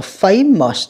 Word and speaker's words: famous: Câu số 3, chúng ta đọc là famous, âm 1 nha các bạn.